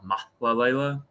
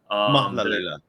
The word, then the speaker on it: Mahlalela: Even like the Warriors' new assistant coach has Jama Malalela, right? Is that how you pronounce it? So technically, that's like the North. And I saw someone give a tutorial on Twitter and then on how to say his last name. Technically, his last name is like Jama Mahlalela. Mahlalela. Mahlalela.